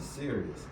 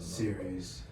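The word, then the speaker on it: Sirius: cover that you know they say start serious and serious s-i-r-i-u-s serious yeah serious i mean that's our pronunciation they probably pronounce it series however they pronounce it serious that's how i pronounce it because she's serious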